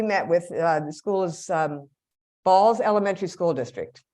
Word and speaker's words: Balsz: So we met with them, and one of the schools we met with, the school is Balls Elementary School District. It's a school district in Phoenix, BALSZ is how it's pronounced, spelled.